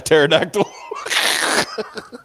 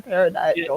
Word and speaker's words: pterodactyl: being taken by a pterodactyl. Yeah. Compared to other dinosaurs, the pterodactyls are actually the bigger creepers because, the P is silent.